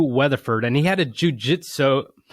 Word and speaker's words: jiu-jitsu: I say it wrong again. Jiu-jitsu. No, J like jit. Jiu-jitsu.